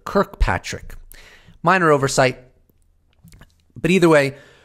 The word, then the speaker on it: Kirkpatrick: So right off the bat, I will say that Senator Gillibrand was pronouncing the director of Aero's name incorrectly as Fitzpatrick. It's actually Dr. Kirkpatrick.